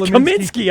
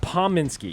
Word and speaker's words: Pominski: changes every time yes Kaminsky I like Kaminsky what's the proper way to say it's paw Minsky yeah you see look at the key om come on brother Paul Minsky hey go he's following